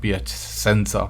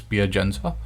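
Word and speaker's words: Piacenza: piagensa pc italy okay so that's how it's pronounced uh pia chanel jensa uh okay it's not ph sensor okay it's pier jensa so from india if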